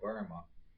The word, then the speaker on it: Boehme: It looks like his name should be pronounced Jacob Boehme, but a lot of people call him Jaco Burma, and he was from